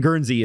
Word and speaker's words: Guernsey: the E in Guernsey is silent.